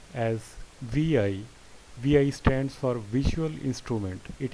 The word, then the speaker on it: vi: for linux unix and other unix-like operating systems pronounced as vi stands for visual instrument it is a widely